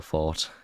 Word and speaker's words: forte: Let's move on, because business is not our forte. No. Forte. It's actually fort, but people... No, it's forte. No, it's fort, but everyone is used to pronouncing it forte now.